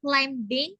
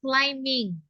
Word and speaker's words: climbing: Do not say climbing, but it's climbing. Okay. M. Do not pronounce B.